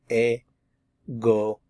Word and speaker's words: égoïste: When you have the tréma, it forces you to leave this in its own syllable, and this is a new one. So we have égoïste.